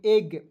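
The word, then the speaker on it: egg: इज नहीं पढ़ लीजिएगा। इसे पढ़ेंगे एग।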